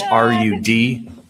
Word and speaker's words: Rudofsky: Special Agent Rudofsky, that's Rudofsky, and it's pronounced Rudolph and then ski.